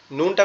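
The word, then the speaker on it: نون: নুনটা কোথা থেকে উচ্চারণ হবে? নুনটা আমাদের জিহ্বার আগা উপরের তালুর সঙ্গে লাগবে, লেগে উচ্চারিত হবে নুন নুন।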